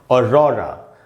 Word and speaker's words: aurora: तो दोस्तों, इसको पढ़ना है और रॉरा। अब थोड़ा प्रोनाउंसिएशन समझते हैं कि कैसे ये जो प्रोनाउंसिएशन है ये कैसे बना। ये है दोस्तों ऑ और उसके बाद है दोस्तों रॉ का जो साउंड है आप देखेंगे उसके नीचे मैंने उसको अंडरलाइन किया है।